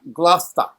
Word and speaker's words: Gloucester: El lugar se escribe Gloucester, Gloucester, así se escribe, pero se pronuncia Gloucester, Gloucester.